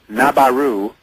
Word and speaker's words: Nibiru: and I'm referring to Nibiru. Nabaru is how Warren would pronounce it, that Sitchin talks about.